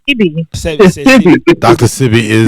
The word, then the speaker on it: Sebi: It's not even Sebi, it's CB.